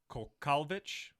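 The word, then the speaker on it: Kowalkiewicz: And for the first fight on that prelim card, Karolina Kolkovic.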